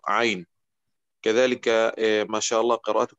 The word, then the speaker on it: عين: حرف العين لا ينطق أين وإنما ينطق عين.